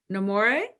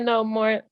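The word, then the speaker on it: Nomore: say her name right Tia namore Tia no it's Tia no more no more no less is what she says but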